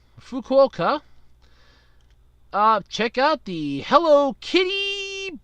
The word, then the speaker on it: Fukuoka: to go from Osaka to how am i mispronounce this again I know it if you want to go from Osaka to fool cuca Fukuoka check out the Hello Kitty bullet train we'll